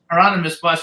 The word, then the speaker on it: Hieronymus Bosch: Claudia from Germany who says how do you pronounce the guy's name? Hieronymus? Hieronymus Bosch.